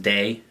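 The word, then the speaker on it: Dai: With that said, this one in particular is D-A-I, and I just wanted to make sure it is pronounced day.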